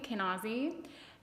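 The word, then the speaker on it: Kenaz: moment here this room card is called kane pronounced um kane ozzie kenozzi and i will tell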